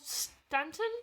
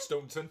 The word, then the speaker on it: Staunton: Carol Stanton, is that how you say it? Staunton. There we go.